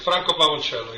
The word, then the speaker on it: Franco Pavoncello: You are Franco Pavoncello. Have I pronounced your last name or even your first Yes, correctly. name? Franco Pavoncello, yes.